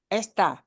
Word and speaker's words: esta: word is not EST this word is esta and in hearing them the only difference you're going to hear is where we punch which syllable we punch which syllable we stress harder always has to punch the end but esta punches the beginning okay uh it is